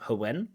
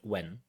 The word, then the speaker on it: when: pronunciation standard British English doesn't have the H sound so it's not Howen but when just when why where when why where not how when ho where but just when why where it's more